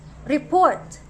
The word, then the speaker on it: report: as report report but if you are referring to an action word for the word report the stress should be on the second syllable and not on the first it becomes report which means you are